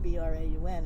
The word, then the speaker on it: Braun: Now, Brown, of course, B-R-A-U-N, is famous for all kind of electronics now, but at the time they made cameras. Yeah, it's pronounced Brown.